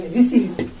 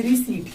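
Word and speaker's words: receipt: और ये जो आपका लिखा हुआ है, इसमें आपका पी जो लेटर है वो साइलेंट होता है। इसे हम लोग बोल कर सुनेंगे रिसीप्ट। क्या बोलेंगे? रिसिप्ट नहीं, इसे बोलेंगे रिसीट।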